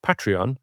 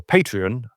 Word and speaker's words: Patreon: Um if you are enjoying listening to The Price of Music, um you can support us uh via Patreon or Patreon, depending on how you want to pronounce it.